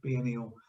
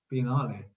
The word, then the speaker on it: Biennale: which we did at the venice biennial sorry biennial biennale uh the venice biennale um it's always called